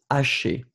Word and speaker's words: haché: So remember that this H, the first one, doesn't exist. So you don't pronounce it and it's haché.